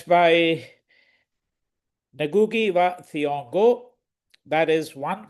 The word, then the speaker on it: Ngugi wa Thiong'o: So the other pronunciations of his name are Ngugi wa Thiong'o, and I'm told that perhaps the best pronunciation, or the most reliable one, is Ngugi wa Thiong'o. Um, I'm going to refer